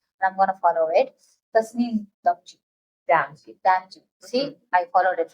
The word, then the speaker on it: Tasneem Damji: And I'm here with someone who is going to pronounce her name properly, and I'm going to follow it. Tasneem Damji. Damji. See, I followed it right. Tasneem Damji.